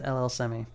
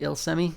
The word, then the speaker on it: LL Semi: I had been pronouncing it Il Semi this whole time. Now that he was on my friends list and I had to type it in, it's actually LL Semi.